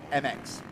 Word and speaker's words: EMIX: Is that EMIX? Well, it's basically a play on words. You pronounce it MX.